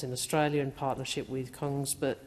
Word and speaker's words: Kongsberg: Australia in partnership with Kongsberg, I think it's pronounced Kingsburg, but in Kongsberg Defence in Australia.